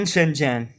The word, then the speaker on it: Shenzhen: I've always find it a little bit unacceptable for me because I think they're Chinese characters and they should be pronounced the Chinese way. Yeah, because they're Chinese. They're Mandarin, and well, the only reason why people pronounce Shenzhen like Shenzhen, Shenzhen like Shenzhen is because they don't know Chinese, and if they wanna